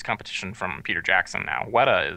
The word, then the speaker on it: Weta: from Peter Jackson now WETA is pretty or as he pronounces it wet W you need the you need the r the fake R um they they do